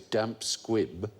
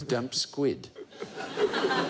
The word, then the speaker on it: squib: There was a 2009 survey that found that the most common misquote is mispronouncing the phrase damp squib as damp squid.